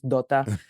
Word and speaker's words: Dota: all that stuff or Dota as we pronounce it in Greece, Dota.